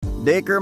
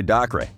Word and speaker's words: Dacre: getting wrong how was his first name actually pronounced daker has had to explain the pronunciation of his